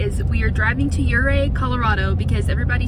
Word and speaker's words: Ouray: wrong I looked up the pronunciation since we pronounce Zapata zapatol okay okay hooray what do you say hooray for yuray hooray for Yuri okay but we're just walking